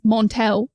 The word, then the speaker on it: Montel: His name's Montel, but it's Montel.